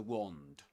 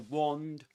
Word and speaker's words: wand: So we say in British English it's wand. Wand. But in American English this is wand. Wand. Shall we listen to that? Wand. Wand. Wand with a long a sound in American English,